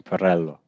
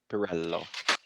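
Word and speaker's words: Pirrello: Oh, it's yes, Italian. Well, he's Belgian, but it's an Italian name, Pirello. Pirello.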